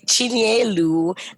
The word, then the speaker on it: Chinyelu: So Jessica, please help me with the pronunciation. Chinyelu. Chinyelu, and the married name?